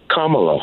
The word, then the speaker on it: Kamala: name let me ask you how do you pronounce your name Kamala that's right Kamala right you said Kamala you